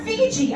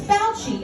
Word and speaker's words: Fauci: My dad was like, Dr. Fiji. I'm like, it's Fauci, it's Fauci. You made him Asian.